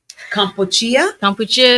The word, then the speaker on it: Kampuchea: Kampuchea is how you actually say the name of what we now know as Cambodia.